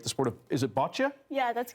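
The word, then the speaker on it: boccia: development particularly and forgive me if I don't pronounce this right the sport of is it bota yeah that's correct so first of all what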